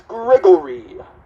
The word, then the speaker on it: Gregory: Whether he was just being funny or legitimately saying my name, he would always address me as Gregory, always putting a huge emphasis on the O.